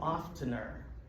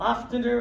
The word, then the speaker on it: often: What is an oftener? An oftener is someone who pronounces the letter T in the word often. It's not often, it's often.